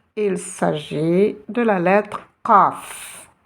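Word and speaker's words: قاف: Il s'agit de la lettre Qaf. Et essayez de la prononcer du fond de la gorge. Qaf. Et non pas Kef.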